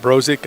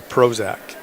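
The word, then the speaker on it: Brozik: Some people pronounce it brok. I say Prozac.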